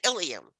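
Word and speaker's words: ileum: All right, Ilium, both pronounced exactly the same, Ilium and Ilium.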